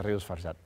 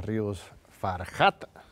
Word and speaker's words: Ríos Farjat: tintero aquí con la ministra margarita Ros farat no se vayan aquí seguimos con la ministra margarita Ríos farjat corrijo la pronunciación que este muy importante